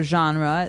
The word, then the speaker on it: genre: comes from French uh it's a g word so genre it's a soft soft sound MH and what's a